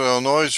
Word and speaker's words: Illinois: I know you two are in Illinois. I'm from No. Pennsylvania, Indiana. Nope. Excuse me. Yep. Indiana. Nick is in Illinois. Yep. Nick, Our do you pronounce it Illinois or Illinois? Illinois, the S is silent.